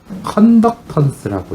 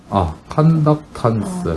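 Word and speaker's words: conductance: 그리고 이걸 어떻게 읽냐면은 컨덕턴스라고 읽어. 컨덕턴스.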